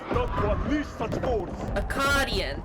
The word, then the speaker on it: Akkadian: What have you, Arcadian, done to unleash such force? Akkadian, that's how you say it, okay.